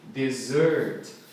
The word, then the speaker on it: dessert: Olha como é que escreve dessert. É muito louco porque tem dois S's, mas a pronúncia é dessert. Aqui, sílaba tônica primeira, desert. E aqui, dessert.